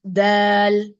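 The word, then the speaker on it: دال: the opp Opposite gums tip of the tongue will be touching the opposite gums D Dal like that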